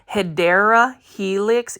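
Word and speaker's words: Hedera helix: of HRA helix or the correct way to say it guys if you want to be that person who wants to correct people it's actually hyera Helix English ivy this one right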